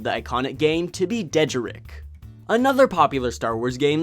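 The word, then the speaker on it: dejarik: used to pronounce it dejar Rick I was putting the emphasis on the wrong syllable when I met the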